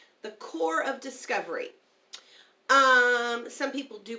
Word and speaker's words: Corps: Corps is a French word, so the P is silent. The Corps of Discovery. Some people do pronounce it Corpse of Discovery, but that